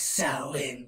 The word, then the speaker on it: Samhain: date back to the ancient Celtic festival of Samhain properly pronounced it is sell in New Jersey mortals the Celts who lived 2,000